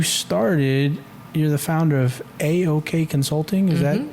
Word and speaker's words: AoK: But I mean, to the point that you started, you're the founder of AoK Consulting.